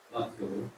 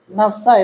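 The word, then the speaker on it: نفسه: Yang ketiga, Ra'aitu usamata nafsuhu. nafsu. Ra'aitu usamata. Bacanya aja yang salah. Nafsa itu, Pak.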